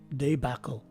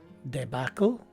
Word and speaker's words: debacle: two variations is that the north americans pronounce the first letter e as a short e whereas in the uk